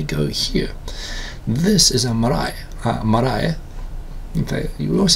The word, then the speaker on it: marae: This is a marae.